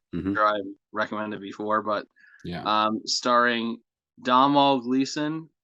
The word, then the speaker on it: Domhnall Gleeson: I think that's how you don't pronounce the N. and I've been told this many times by my friend Valerie, and I don't even know if I pronounced it right that time, but I know that it's not Dom Null.